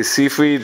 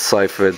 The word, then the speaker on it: Seyfried: I always get her name wrong. I always say Seyfried, but since she's been around in like award season, I know it's Seyfried, so I'm going to start calling her that now.